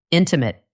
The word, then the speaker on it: intimate: Where's the stress? Intimate. The stress is on the first part. In. Maybe you were saying intimate.